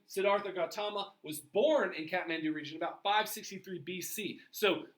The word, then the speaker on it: Kathmandu: Kathmandu is the main kind of economic center of the country, the main political center of the country.